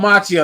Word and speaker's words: Macchio: Okay, Ralph Macchio. That's not the Karate Kid though, right? Yeah. Well, so I've always pronounced it Macchio, but I heard Tom DeFalco in an interview the other day say Macchio.